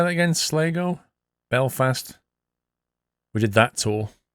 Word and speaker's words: Sligo: It's pronounced Sligo.